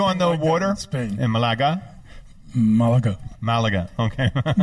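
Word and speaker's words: Málaga: drink we're no Oh Malaga yes we call it malaga malaga where's Malaga near the in Spanish the accent is always on the last syllable yeah Marquez on the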